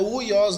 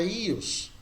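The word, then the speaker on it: υἱός: Então a pronúncia fica só I. Não é uios, não, é Ios.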